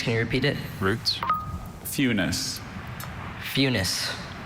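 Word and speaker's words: funis: Funus. Funus. F U N I C E. Funus. Fus is spelled F fu n I S.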